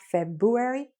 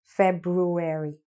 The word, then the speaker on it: February: This is actually a word that's mispronounced by lots of students because they sometimes say February. It's not February, it's February. Airy, ruary, February. Now you've got it.